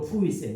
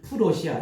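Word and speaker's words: Preußen: 독일 정신에 뿌리는 19세기 초 프로이센 우리 정확한 발음은 독일어로 프로이센 옛날에 우리는 풀러시아 이렇게 배웠습니다.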